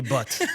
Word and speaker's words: Bhat: So So the right way to pronounce it, it's so funny, too. Okay. So Exactly. So it's but it's butt.